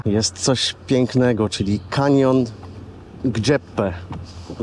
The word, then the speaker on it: Gjipe: Pomiędzy Dermi a Himare jest coś pięknego, czyli kanion Gjepe. Wymowa tego albańskiego jest tak trudna. Zapytaliśmy tutaj pasterza KUS, jak się wymawia poprawnie tą nazwę, jakieś Gjepe. Gjepe.